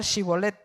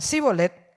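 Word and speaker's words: שיבולת: que controlaban los pasos, le hacían pronunciar shibolet, que significa espiga. Y si pronunciaban sibolet con S en lugar de los reconocían porque los efrateos eh eran efrateos y los mataban. ¿Por qué? Porque los efrateos no podían pronunciar, ellos tenían un dialecto de tal forma que eran incapaces de pronunciar sh.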